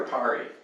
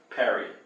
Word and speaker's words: Perry: Is it Perry or Pari? Perry. Dustin Perry.